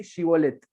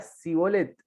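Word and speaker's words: Shibboleth: Si él respondía no, entonces le decían, ahora pues di Shibolet. Y él decía Sibolet, porque no podía pronunciarlo correctamente.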